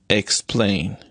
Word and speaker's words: explain: For example, explain. Explain is a two syllable word. So you can see that the it is marked plus stress on the second syllable, explain, on the second syllable.